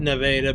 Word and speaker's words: Nevada: I said Nevada because I'm told that that's how they pronounce it here.